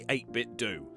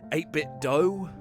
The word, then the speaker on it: 8BitDo: videos and I know apparently it's meant to be pronounced 8-bit dough like Nintendo well I don't care I've been calling it 8-bit do for so damn long